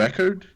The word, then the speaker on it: Eckhardt: Geralmente, eu digo Eckert. Eckhardt.